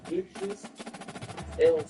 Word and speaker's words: Idris Elba: Idris Elba.